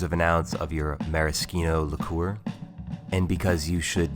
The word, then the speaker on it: maraschino: You'll also need some maraschino liqueur. Make sure you pronounce that like a good Italian.